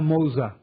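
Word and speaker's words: Moça: Con C cedilla. En portugués es Menina Moza.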